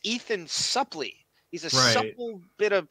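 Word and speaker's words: Suplee: she gets wrong the actor's name is Ethan suley not Embry and she keeps saying his name wrong I think you should know the actors who you did the scene with it's Ethan Supply he's a Supple bit of protoplasm on him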